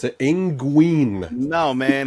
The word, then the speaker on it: Nguyen: Win. You pronounce that win. Whatever. We're in America. We pronounce it Nguyen.